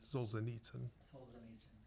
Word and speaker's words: Solzhenitsyn: heard it and that dad pronounced souls s-a-s-o-h-l-z solzhenitsyn um like souls in nature it's okay in this